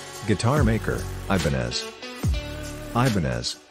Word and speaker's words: Ibanez: guitar maker Ibanez Ibanez pronounced aponzu is a Japanese guitar